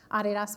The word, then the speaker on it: Adidas: and Francois for your pronunciation of the brand, Adidas. Many people don't know, we actually started in a tiny, tiny little village in Germany, and the actual pronunciation of the brand is Adidas, which not a lot of Americans know.